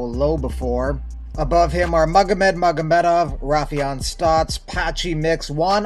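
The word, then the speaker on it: Magomed: and anytime you have the three syllables magamet in your name you're usually a very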